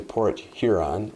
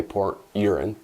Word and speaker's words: Port Huron: So I'm from Port Huron, so I gotta be careful how you pronounce that, I should say, because those of us in Port Huron often will say Port Urine.